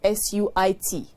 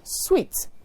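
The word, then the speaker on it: suite: hospitality center is not s-u-i-t but s-u-i-t-e please note that s-u-i-t-e is pronounced sweet not suit per se means in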